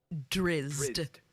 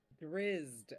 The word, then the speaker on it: Drizzt: Drizzt. Oh yeah, I was totally wrong. Drizzt. Oh, so you pronounce the Z. Drizzt. Like you put the Riz in Drizzt.